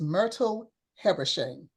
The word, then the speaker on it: Myrtle Habersham: volunteer, and she is Myrtle Habersham. Am I pronouncing that correct, Myrtle? That is correct.